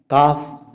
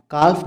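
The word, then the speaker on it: calf: काफ, काल्फ नहीं कहते, काफ कहते हैं।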